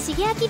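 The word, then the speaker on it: 加藤成亮: 読み方は芸名と同じで加藤シゲアキです。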